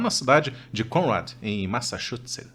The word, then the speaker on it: Massachusetts: cidade de Conrad, em Massachusetts. Eu pronunciei correto? Massachusetts. Ah, agora a pronúncia ficou bonita.